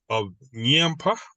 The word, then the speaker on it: Nyampa: So firstly, just correct the pronunciations of Nyampa.